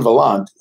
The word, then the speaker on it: Vaillant: lot yeah spoke be a lie so Antoine Vaillant came in the air Oklahoma he'd be in